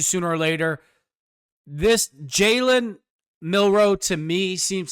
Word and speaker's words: Milroe: if the 21st pick milrose not taken Pittsburgh is leaning now and taking him I mean Jaylen mil excuse I said his name wrong Jaylen milro is a huge individual